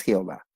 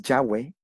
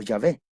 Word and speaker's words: Yahweh: Pero en realidad no es Jehová. se puede decir que la pronunciación es Yahweh o Yahvé.